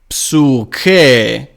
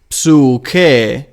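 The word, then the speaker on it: ψυχή: And in Homeric Greek it is psyche. A lot of. Bear in mind that the upsilon is a long one. It is marked as long one. So it is psyche, which means soul.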